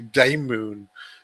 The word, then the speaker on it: Daymoon: And turned it into Daymoon, which sounds based on the original Greek pronunciation of demon, just like Oh, daimon.